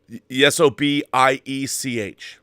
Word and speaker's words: Sobiech: How do you pronounce that? Sobiech. Good, yeah, Sobiech.